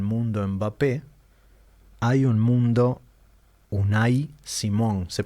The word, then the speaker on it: Unai Simón: como hay un mundo mbappé hay un mundo unai Simón se pronuncia así Diego sí un Simón es Vasco